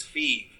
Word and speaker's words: FEV: what is you know that's is pronounced. It was originally Fee. It's Fee.